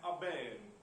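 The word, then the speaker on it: urbane: पहला वर्ड है अर्बेन। इसका सही प्रोनाउंसिएशन है अबेन, जिसमें आर का साउंड नहीं आता, यानी आर साइलेंट होता है ऑलमोस्ट।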